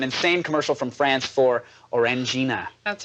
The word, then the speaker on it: Orangina: The number one most special thing on the net today, though, is an insane commercial from France for Orangina. That's right, Orangina. This commercial is much Orangia.